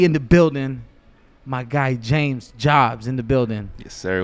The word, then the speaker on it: JMZ JBZ: It's spelled JMZ, JBZ. Some people think that my name is JMZ, but it's James Jobs.